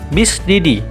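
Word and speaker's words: bis de die: Kemudian ada BDD, cara pengucapannya atau kepanjangannya adalah bis didi, artinya 2 kali sehari.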